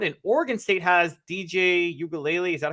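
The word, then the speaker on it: Uiagalelei: and cam Ward and Oregon state has DJ ukulele is that how you pronounce his last name perfect so great I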